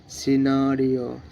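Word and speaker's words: scenario: এস সি ই এন এ আর আই ও সিনারিও সিনারিও guys এগুলো practice করবা অনেক কিছু শিখতে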